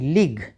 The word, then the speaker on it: league: किसी भी शब्द के अंत में आए हुए GUE में भी यू का उच्चारण नहीं होता, ठीक है। यू बिल्कुल साइलेंट रहता है।